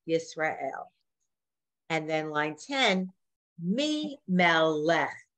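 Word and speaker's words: מי מלך: And then line 10, Mi Melech. Look at that. It's three syllables. Mi Melech.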